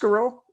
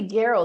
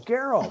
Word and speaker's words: Gareau: G is it pronounced gero it's actually Geral like Sparrow oh very cool Geral that's very cool I